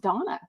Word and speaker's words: Dana: Real Housewives of New York newbie, Erin Dana Lucci. Actually, I think her name is pronounced Donna, like Daily Dose of Donna, D-A-N-A.